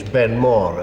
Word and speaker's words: Ben More: Well, of course, in English, Ben Mor is a perfectly good pronunciation.